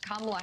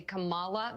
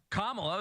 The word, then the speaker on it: Kamala: the hate campaign against kamla Harris has begun you will notice they purposefully pronounce her name wrong they say Camala they do it all